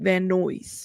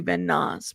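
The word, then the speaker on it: Van Nuys: He pronounced it Van Noise. Yeah, I used to say Van Nas, but it's Van Noise.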